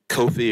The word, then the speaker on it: Kofi: you so much uh Kofi or coffee coffee my apologies and you know how to say my name it's coffee yes ma'am I'm sorry